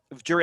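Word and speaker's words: Jirav: know what's it called jury have j-i-r-a-v it's pronounced like the animal a giraffe but it's spelled i'll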